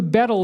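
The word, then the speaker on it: baetyl: And it's a little funny because the AE is kind of pronounced E, so it's more like beetle.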